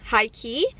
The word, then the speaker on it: H1-KEY: I also really like High Key. They're a K-pop girl group, but it's spelled H1-key, so the I is a 1.